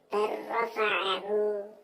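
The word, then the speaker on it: بَلْ رَفَعَهُ: Contoh lagi bal rafa'ahu, bacanya bar rafa'ahu, bar rafa'ahu.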